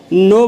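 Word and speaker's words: know: डब्ल्यू नो ठीक है के के बाद अगर एन रहता है तो के साइलेंट हो जाता है इसको याद रखिएगा ठीक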